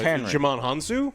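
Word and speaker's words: Djimon Hounsou: name how do you say his name oh jam hanu yes oh right the guy starlord who yes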